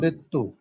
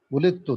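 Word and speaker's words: وُلِدْتُ: তো এদগামের বন্ধ উলিতু উলিতু দা এর উচ্চারণ হবে না দালের উচ্চারণ উলিতু উলিতু দাল যখন তা এর আগে আসে তখন দালের উচ্চারণ হয় না এটা আমরা আরো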